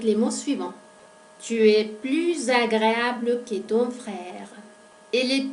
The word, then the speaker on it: plus: Plus agréable. Al hacer esa unión, ese enlace, aparece un sonido que es similar al zumbido de la abeja.